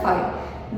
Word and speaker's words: phi: This we pronounce it as a phi.